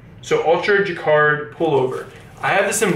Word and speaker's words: jacquard: so the next one is the pink it's pronounced jacquard so ultra jacquard pullover I have this in black and honestly